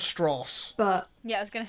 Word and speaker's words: Strauss: strong stress Lewis Strauss it's pronounced straws but yeah I was